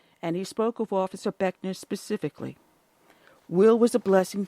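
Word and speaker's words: Buechner: officer veteran officer William will ray Beckner Jr pronounced Beckner following a visitation period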